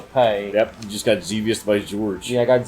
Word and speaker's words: Xevious: There's no Z. That's an X. XEV. It'd be Sevius. Look, this isn't reading Rainbow Sevius? Gatsby. I'm gonna go with Sevius. Zevius? That's my new pronunciation for this game.